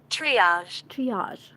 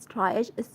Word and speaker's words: triage: Wow, new word. Triage. Well, not triage. It is triage. Yeah, is it triage?